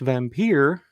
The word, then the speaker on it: Wampyr: It's pronounced Vampire. Here in Western Kentucky, it's called Wampyr, um, and it's almost a completely different film.